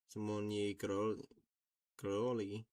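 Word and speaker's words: Simonyi Károly: Simony Karoli, pronounced Simony Coroli. Yeah, something like that.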